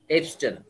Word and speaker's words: abstain: এখন পরেরটা দেখেন, প্লিজ এবস্টেন, এবস্টেন মানে ABSTAIN, এটা উচ্চারণ কিন্তু অ্যাবস্টেন না, এবস্টেন।